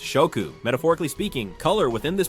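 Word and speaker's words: 色: In translations, the original nuance is often lost, but in Japanese, each of these specific names carries a kanji character that directly signifies color, which is pronounced shoku.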